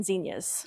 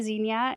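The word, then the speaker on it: zinnia: And then to do the profusion zenyas, how do you say zena? Well, I used to say zena. There's two plants that I have switched the way I pronounce it.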